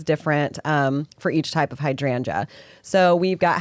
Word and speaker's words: hydrangeas: Hydrangeas.